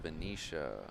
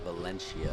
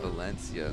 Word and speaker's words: Valencia: 65 is a team from Venetia. Spain. A team from Spain. I think it's pronounced Valencia. Valencia.